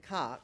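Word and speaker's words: Cocke: We pronounce it cock.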